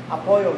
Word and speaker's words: apoyo: Apoyo, no. Apoyo and pollo. It sounds very similar. Pollo. Pollo loco. Apoyo is with the Y-O, and then pollo is with the double L.